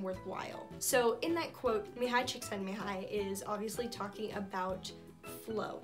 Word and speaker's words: Mihaly Csikszentmihalyi: His name, I'm gonna try to pronounce correctly, his name was Mihaly Csikszentmihalyi.